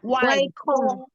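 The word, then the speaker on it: 外公: Ini ya, G itu nggak dibaca G ya, tapi dibaca sebagai K. Jadi wai kong.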